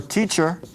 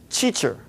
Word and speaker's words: teacher: be aware of it try and pronounce this with a t sound in english not with a ch sound which happens in portuguese